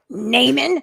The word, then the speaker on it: Naaman: Well, I say it because I say it like Naaman. Oh, like Newman.